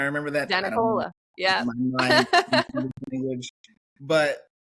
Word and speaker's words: DeNicola: We just say DeNicola. DeNicola, DeNicola. It's like you're in the den having Nicola, the Nicola. Why can't I remember that? I don't know. DeNicola.